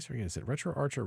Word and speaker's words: RetroArch: is set up on retroarch in the meantime all right so we're gonna set retro Archer retro Arc because it's a r c h but I've heard people call it retroarc as well I don't know if